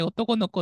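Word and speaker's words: 男の娘: 思うんでなんか男の娘って書いて男の子って読むんですよっていうの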